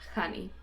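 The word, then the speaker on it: Jani: I was a little girl and it is honey you can either spell it j a n i or h a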